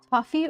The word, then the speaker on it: toffee: on those wages anymore toffee rhymes with coffee that's how it's different